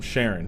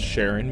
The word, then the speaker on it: Charon: Now, about the pronunciation, Charon isn't likely the Greek pronunciation, but I'm going off how astronomers pronounce Charon when talking about the moon of Pluto with the same name.